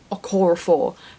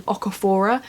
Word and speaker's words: Okorafor: is binti by nnedi okorafor finally I kept saying aquaphor and I don't know why but then every time right oh that's wrong I'd go back to say